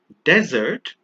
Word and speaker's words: desert: The one on the left is pronounced desert with a single S, and the one on the right at the top is dessert, also with a single S.